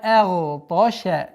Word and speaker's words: أغطش: Обратите внимание, агташа нет, потому что звук хамза всегда произносится и подчиняется огласовке, а огласовка фатха читается мягче. С мягкого на твердое произношение гайна, сукуном, после которого идет твердый та. Агташа. Обратите внимание, чтобы звук шин не произносилось твердо.